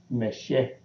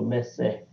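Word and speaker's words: msh: This one is the crocodile, of course, and it's pronounced M-S-H, Meshe or Messe. Mm-hmm. You know, in the old Medu Neter, this S would be a Z, so it could be Mezeh.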